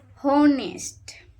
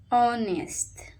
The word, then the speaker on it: honest: K is silent. Say knife. Okay. Honest. Honest.